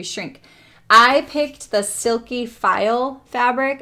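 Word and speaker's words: faille: I picked the silky file Fabric and file is spelled f-a-i-l-e and that is not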